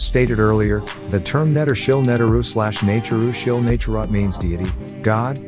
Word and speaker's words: Neteru: programming ruling Spirit beings this term netaru or properly nature pronounced not too Rue although better than God